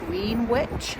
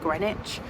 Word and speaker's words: Greenwich: in Greenwich today in London so it's actually spelled like green witch um but you pronounce it grenwich so we came yesterday to see Santa at